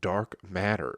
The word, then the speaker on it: DRK MTTR: 28th i'll be at a place called dark matter it's spelled drk mttr very cool very [